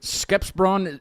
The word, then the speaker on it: Skeppsbron: Is it Skepsbron? Skeppsbron.